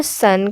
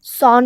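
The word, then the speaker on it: son: और एक बात ध्यान रखिए, इसका जो प्रोनाउंसिएशन होता है सन, वो सॉन नहीं होता, ठीक है, तो सन होता है।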